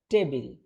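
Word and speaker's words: table: যেমন টেবিল। আমরা বলি কি? টেবিল। কিন্তু এটা হবে কি? ঠ দিয়ে হবে। কিন্তু উচ্চারণটা আরেকটু ভিন্নভাবে হবে। উচ্চারণটা হবে যে টেবল।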